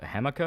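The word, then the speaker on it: jamaica: It's pronounced uh hemah.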